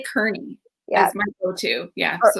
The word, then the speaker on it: Kearney: totally okay with that it's kearney so like carney lake road in halifax yes that helps me because i always say kearney yeah that's my go-to